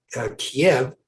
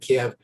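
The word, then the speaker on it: Kyiv: token i understand that kiev which is how i always uh have pronounced uh the capital of ukraine is pronounced kiev uh in ukrainian uh uh and and it's the russian uh the russians who say kiev but uh so i will try to say keep but again if i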